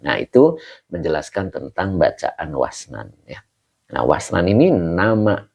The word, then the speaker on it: wasnan: Jadi kalau kita artikan ini cara baca wasnan ya. Wasnana itu biwawin maftuhatin dengan huruf wwunnya di fathah.